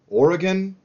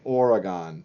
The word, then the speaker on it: Oregon: capitals whatever yeah you're probably going to say Oregon but it that's not how we say it it's Oregon so so that was